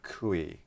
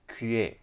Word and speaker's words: kuih: They said that I mispronounced the word kui. It's kuye. Kuye.